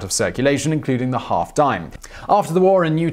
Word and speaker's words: disme: You see, the half dime, which is actually spelled D-I-S-M-E, but is pronounced dime, as it was originally referred to, it wasn't made of nickel.